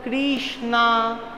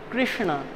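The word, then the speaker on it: Kṛṣṇa: if anybody randomly sees this word they can pronounce it as Krishna Krishna Krishna there can be many variations but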